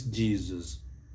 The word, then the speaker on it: Jesus: some guideline on pronunciation mostly in english the letter s if it comes in between two vowel sounds it takes the z sound so it is jesus jesus but for this